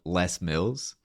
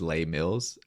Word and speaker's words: Les Mills: Zealand there was this gym chain called less Mills but being from Canada and like you know being used to French words being around for like probably a month in my head I was pronouncing it as lay Mills you know as in like the plural right like lay Miz like exactly it's for me I was like yeah lay Mills and then I finally